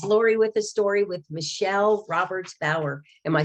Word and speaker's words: Michele Roberts-Bauer: hunters this is lori with the story with michelle roberts bauer am i saying it correctly yes you are